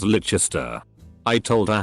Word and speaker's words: Leicester Square: sing so long to Leicester Square is licha stir I told her how